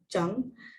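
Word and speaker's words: 正: uh right straight main or to correct it's pronounced jung and we've seen that in a few other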